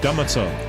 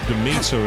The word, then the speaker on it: Demeter: I said Demeter. It was only when I played for Horizon Forbidden West that I realised it was actually Demeter is the way you pronounce it.